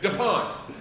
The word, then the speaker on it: Dupont: it your points you do it you're right dupont all right so um but this is brand